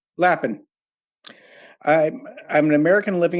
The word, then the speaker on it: Lapin: Did I pronounce the last name correctly? Lapin. Lapen.